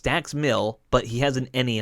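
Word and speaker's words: Dax Milne: said it wrong it's dax mill but he has an any on the end of the end uh of his name and you don't pronounce that he hasn't so dax mill and he has a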